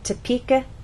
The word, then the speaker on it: Topeka: kin or Ken so we do not say topa kenzas the correct pronunciation is Topeka Kansas get it exercise 2 listen to the